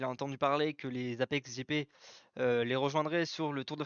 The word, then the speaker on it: APX GP: Donc, selon Julien Febvre, les voitures, enfin les deux voitures de l'Apex GP, donc APX GP qui se prononce Apex GP, prendront le départ du tour de formation dimanche du British GP.